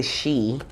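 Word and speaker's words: sidhe: was s-i-d-h-e okay but it's pronounced the she with two e's s-h-e-e okay um it says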